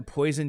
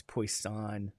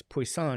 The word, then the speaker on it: Poisson: poisson is yep and it's a French name it's like it sounds like poison sounds like poison you know students always used to say is that the poison distribution I'd say no it's poisson it's poisson it's like